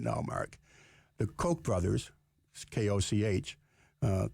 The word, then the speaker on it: Koch: Mark the Koch brothers Koch uh Koch is how it's spelled Coke is how it's pronounced have set up a